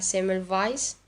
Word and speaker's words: Ignaz Semmelweis: signar ignace ignaz semmelweis que se pronunciaría semer vice pero bueno yo voy a decir semmelweis que es muy fácil bueno todo parte cuando